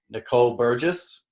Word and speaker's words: Nicole Burgess: And we have Nicole Burgess today with us. Did I pronounce that right?